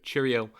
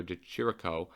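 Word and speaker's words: Di Chirico: good win over Alessio Cheerio um I know that's not how you pronounce his name but that's how I've found myself to be pronouncing his name it's Alessio de chirico um but I calmed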